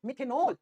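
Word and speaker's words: मेथेनल: ठीक है, जैसे AL को अपन जनरली प्रोनाउंस कैसे करते हैं, एल करते हैं, लेकिन होता अल है। अब जैसे मैंने कहा मिथेनल, इथेनल, मिथेनल, इथेनल।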